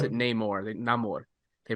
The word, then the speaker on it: Namor: Namor. They pronounce it Namor because I know we had